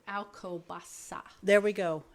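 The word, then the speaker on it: Alcobaça: and it's actually Alo Baka I think it's alasa there we go alasa there's it's all C's in there but one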